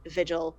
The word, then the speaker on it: Vigil: Vigil, by the way, looks like Vigil, but rhymes with beach hill.